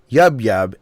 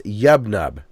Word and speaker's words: Yub Nub: In Ewoks, it's not Yub Yub, it's Yub Nub.